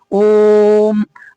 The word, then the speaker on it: ओम: ओम के ओकार का उच्चारण सर्वत्र प्लुत ही होता है। आपको पता होगा, ओम, ओ को जोर दे करके बोलते हैं।